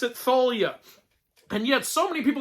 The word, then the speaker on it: Thalia: know for a fact that you're supposed to pronounce it Thalia and yet so many people in the comments were like dude you're the one pronouncing it wrong it's Talia you pronounce that name Talia well you know